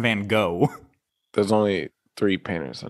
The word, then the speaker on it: Van Gogh: i'll say that vincent van gaan vincent van what gone you know i'm going to give it to you because yes you're right but you're saying his last name wrong it's vincent van gogh there's only three painters